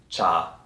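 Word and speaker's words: 茶: there is a half of the world that pronounce the word T more or less like the Chinese do in Mandarin cha for example in Japan there are other or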